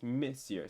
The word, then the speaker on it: monsieur: address people okay so so it looks like monsieur but it's missier so like kind of saying like miss like miss but miss you or mercier oh miss so